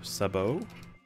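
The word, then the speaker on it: sabot: sad sad sad world the t is silent in saot by the way it's a short o Sabo Sabo Sabo Sabo thought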